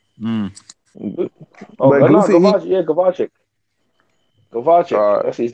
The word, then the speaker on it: Gvozdyk: Gvozdyk. That's his name. Gvozdyk.